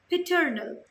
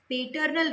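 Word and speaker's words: paternal: पिटर्नल, पेटर्नल relatives, पेटर्नल relatives नहीं, पिटर्नल relatives. पिटर्नल relatives उच्चारण बहुत मायने रखता है।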